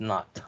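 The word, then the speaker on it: nought: circle on the top is called not okay n-o-u-g-h-t okay so that's pronounced not okay so e naught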